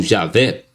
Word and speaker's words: Javé: nome vem sendo substituído pela forma e a fé ou Javé que é a pronúncia mais próxima do original segundo o nome e